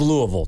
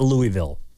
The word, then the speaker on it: Louisville: There's a Louisville Cardinal, I can tell you that. You know, it's pronounced Louisville, not Louisville. Louisville.